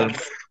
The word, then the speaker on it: Havertz: sonundaki Z'yi de böyle sonunda bir tıs sesi bırakacak şeklinde sonlandırmak. Havertz. Doğru. Havertz. R'yi vurgulamadan Havertz.